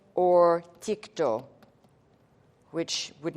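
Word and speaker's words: τίκτω: This comes from, I'll write it in English for you, or phonetically for you, tiko or tikto, which would not look like that in the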